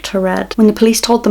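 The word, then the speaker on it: Taured: mysterious man from turret i think i'm pronouncing that right it's not a real country but from the videos i watched a lot of people saying tored so hopefully that is the right pronunciation so in 1951 a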